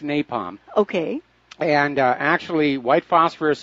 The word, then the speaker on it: napalm: similar to the infamous Nepal munitions that the u.s. used in the war in Vietnam white phosphorus melts the skin off human bones resulting in an excruciatingly ly torturous death okay it's pronounced napalm okay and actually white